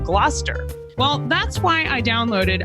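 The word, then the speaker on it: Gloucester: Like originally I said glalcaster instead of gluster.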